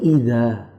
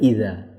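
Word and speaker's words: إذ: Karena si penerjemah membacanya ini idza. Idza itu apabila, jika. Padahal di sini tidak ada alifnya. Di sini id, bukan idza.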